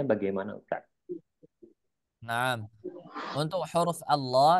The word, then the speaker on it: Allah: Ustaz Naam untuk huruf Allah lafaz jalalah itu ketika kita membacanya harus tebal karena apa Karena di sana ee khusus e lafaz jalala kita harus tebal contoh membaca huruf Allah